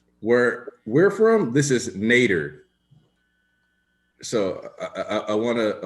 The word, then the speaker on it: Nader: so if it's n if it's not nater and should be like Nader then I just want you to know that that's because like Ralph nater pronounces n a d r as nater so I don't know